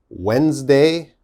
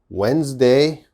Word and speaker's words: Wednesday: next one okay this one's a little difficult wednesday wednesday okay what's the problem now wednesday has a